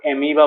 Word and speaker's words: amoeba: হয় ঠিক আছে আচ্ছা pronunciation টো চাবা এটোক এমিবা বুলি কয় o is silent ওকে গম পাইছা আৰু